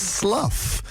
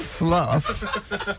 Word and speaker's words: Slough: Someone said it's pronounced slough. It's not pronounced slough. That's the joke my stepdad makes when I'm going to Slough. He'll go, oh, slough. It's not...